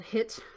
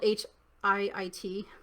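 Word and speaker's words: HIIT: didn't know it was called hit i thought it was called h i i t and i just found out a couple days ago that i've been saying it wrong because i'm generation x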